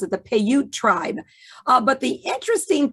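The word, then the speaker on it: Paiute: uh sarah winnemucca was of the payut that's how you pronounce it the payut tribe uh but the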